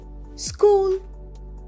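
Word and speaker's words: school: কিছু মজার প্রশ্ন করেছিলেন স্কুল এস সি এইচ ও এল স্কুল স্কুল মানে বিদ্যালয় স্কুলে কিন্তু H silent my brother goes to স্কুল এভিডে আমার ভাই প্রতিদিন স্কুলে যায়।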